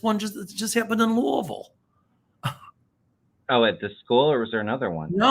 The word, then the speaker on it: Louisville: that yeah yeah and by the way it's pronounced Louisville that just happened in Louisville um and the